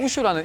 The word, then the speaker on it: 우슈: 쿵푸 팬더라든지 뭐 쿵푸 허슬이라든지이 쿵푸라는 단어를 많이 아시는데 일단 우슈라는 이름부터 제가 설명을 드리고 싶은게 많은 사람들이 우슈가 뭐예요? 이렇게 물어보시는 분들이 많던데 일단은 결론부터 말씀드리자면 무술의 중국식 발음입니다. 북경의 표준화 발음으로 우슈 예전에 쿵프라고 불리던 중국